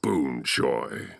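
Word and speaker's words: Boonchuy: of mine nice to finally meet you and boonjoy oh so that's how you say it reunion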